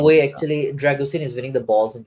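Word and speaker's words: Drăgușin: actually Dragusin is winning the balls in the air. Dragushin, actually, apparently that's how it's pronounced. Yeah, it's Sheen like Charlie Sheen.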